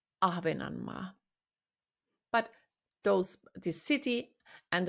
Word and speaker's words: Ahvenanmaa: Oop orand it's in finish Ahvenanmaa. Ahvenanmaa.